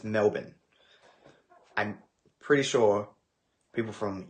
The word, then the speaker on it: Melbourne: guys just say Melbourne just pronounce it like bin Melbourne you're fine do people in the